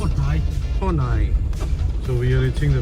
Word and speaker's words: Khawhnai: we are reaching the village Kai how you pronounce Kai Kai so we are reaching the village Kai and